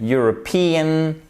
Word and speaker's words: European: European. Vous voyez ici, on a notre accent tonique ici.